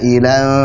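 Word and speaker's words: عائلا: asalnya adalah wa wajadaka 'ailan fa'aghna. Ailan itu harusnya dibaca sebagai mad wajib muttasil 4 harakat.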